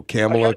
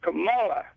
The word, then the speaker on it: Kamala: water and they see better and you're you're mispronouncing harrison's first name oh camila camilla try to get you i try to get you on your private line but uh you got 50 i guess anyway it's kamala i know i don't care though but yeah